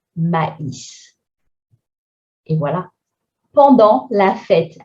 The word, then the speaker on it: maïs: And we have an I tréma, because if we didn't have it, it would be a combination of AI, which makes the sound E, mais, but here it's maïs.